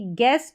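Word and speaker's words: guess: जी और you silent क्या है? यहां पर ग पढ़ा जाएगा। तो जी का उच्चारण तो ग हो रहा है लेकिन यू यहां पर कहा जा रहा है कि साइलेंट है। जैसे कि गेस और गिटार।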